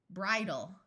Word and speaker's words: bridal: The suffix al is pronounced ul at the end of a word. Here we have the word bride, bridal.